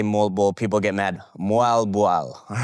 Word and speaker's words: Moalboal: Fun, a lovely Moalboal. I really want to go back there. So, number one, my number one favorite thing I've done in the Philippines is I'd say Moalboal. People get mad. Moalboal, all right?